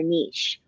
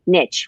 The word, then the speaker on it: niche: And one of the big things that came across was you need to find your niche or your niche, whichever way you want to pronounce it.